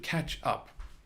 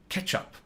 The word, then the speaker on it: catch up: a drink we should catch up catch up just be careful with the pronunciation by the way because it if you say it the wrong way it could sound like ketchup right tomato sauce ketchup